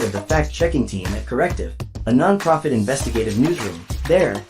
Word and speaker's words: CORRECTIV: First, I would like to introduce Sophie Timmermann, Deputy Head of CORRECTIV. Yes, that's the German pronunciation, and its fact-checking team.